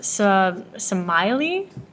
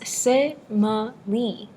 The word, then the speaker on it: Semele: I thought it was pronounced Semele. No, it's pronounced Semele, right? Absolutely.